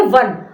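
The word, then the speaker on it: one: क्योंकि वन तो है ओ एन इ वन इसकी स्पेलिंग है। लेकिन इसकी साउंड क्या आ रही है? वन। वो जो हम लिखते हैं वॉन डब्ल्यू एन वाला। तो उसमें भी व आता है शुरू में।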